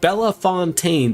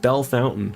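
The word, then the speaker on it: Bellefontaine: They also have Bell Fontaine, which should sound like Bella Fontaine, but they pronounce it Bell Fountain.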